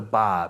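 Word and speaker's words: Barre: out the front door it's called the bar but it's spelt b-a-r-r-e so you'll see that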